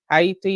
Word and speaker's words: Haiti: Gaza but Sudan Congo Haiti hati if you want to pronounce it correctly to gray all of